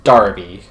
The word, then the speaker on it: Derby: little bit odd that Derby is pronounced Darby in America we refer to it